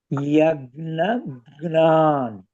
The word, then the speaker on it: यज्ञान: राक्षसान सर्वा यज्ञान यज ये थोड़ा मुश्किल है प्रोनाउंसिएशन रिमेंबर यज्ञान है ओके यज्ञ के बाद जी है वो